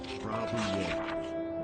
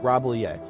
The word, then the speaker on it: Rambouillet: But there are no L's. Rambouillet. Rambouillet.